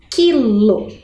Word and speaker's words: quilo: formando um dígrafo Então eu tenho a palavra quilo muito bem não aqui no caso é um